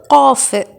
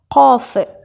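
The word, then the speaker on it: قاف: உச்சரிப்பு காஃப். இதையும் தொண்டையிலேருந்து தான் நெரிச்சு சொல்லணும். காஃப், காஃப் மொத்தமாக சொல்லணும். ஓகே, அடுத்தது இது கேஃப். இது 22வது எழுத்து. இதை காஃபை விட, அதாவது இதுக்கு முன்னாடி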